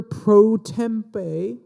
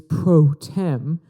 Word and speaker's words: pro tem: headline give the speaker proe or I believe the proper way to say it is proem give him the speaker